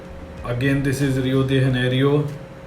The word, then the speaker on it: Rio de Janeiro: Like when you talk in English तो इसको pronounce किया जाता है रियो डी जेनेरियो इन ब्राज़ील. पर जब आप इसको ओरिजिनली पोर्तुगीज़ लैंग्वेज में बोलेंगे तो ये हो जाता है आपका रियो de Janeiro इन ब्राज़ील.